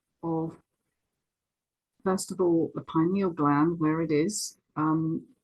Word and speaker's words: pineal: U Americans say pineal, but we say pineal.